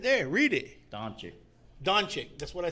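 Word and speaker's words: Dončić: joel embiid luca and damon leonard luca who pronounce it dominic right there read it don't you don chick that's what i said did i put it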